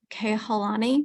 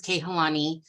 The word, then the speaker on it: Kehlani: the attendee listed as kehalani go ahead please you have two minutes hi you're saying my name right it is kehlani I actually um don't